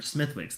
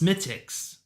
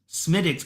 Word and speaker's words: Smithwick's: sorry oh it's pronounced smiix smiix Oh I thought I thought I thought Z was just like being like this sucks smid dicks you know I think okay okay that W was silent okay okay I got